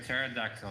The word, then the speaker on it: pterodactyl: I was not famous why can you hear pterodactyl go to the bathroom because the p is silent why do you know